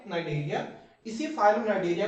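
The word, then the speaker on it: Cnidaria: मेरे साथ इसे फाइलम नाइ देरिया सी साइलेंट है नाइजेरिया इसी फाइलम नाइजेरिया को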